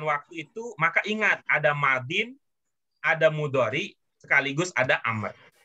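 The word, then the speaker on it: ماضٍ: Madin. Apa? Madin. Tapi dia kalau ditulisnya ada alif lam di awalnya, bacanya menjadi Al-Madi. ya, bacanya menjadi al-madi. Kalau ada alif lamnya. Kalau tidak ada alif lam, bacanya Madin.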